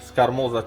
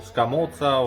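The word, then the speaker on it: scamorza: I got some scamoza cheese, or scamozza, or however you want to pronounce it, some provolone, and parmigiano reggiano.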